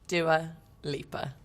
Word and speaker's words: Dua Lipa: really long story cut short how is dewalieba pronounced doer leaper it's quite easy although growing up i feel